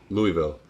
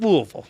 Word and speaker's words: Louisville: way um just just louisville just louisville there you go thank you that's that's all i'm going to ask there's an s in that word yeah no even in louisville the ass is silent dude joseph says sorry